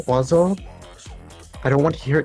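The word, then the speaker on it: oiseau: If that is pronounced wazo, I don't want to hear anything about French being a serious language.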